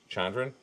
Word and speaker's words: Chandran: Now, I I I'm gonna absolutely hack the pronunciation of this actress's name. Charra, is it Shandran? Uh, Chandran. Chandran.